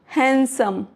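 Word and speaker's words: handsome: Rule number 3, D silent before N और after N इन सम words. For example Wednesday, तो यहाँ पे जो डी है इसको प्रोनाउंस नहीं करेंगे। वेंसडे। हैंडसम, sandwich, sandwich.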